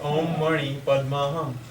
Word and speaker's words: Om Mani Padme Hum: I said Om Mani Padme Hum. Why do you put an R in? There's no R.